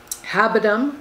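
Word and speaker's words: habendum: legal concepts they are what are called the habitum and that's spelled h-a-b-e-n-d-u-m clause that references the type of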